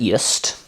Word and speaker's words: Jüst: reason is mad lads at yeast um which is how you pronounce that i wouldn't know that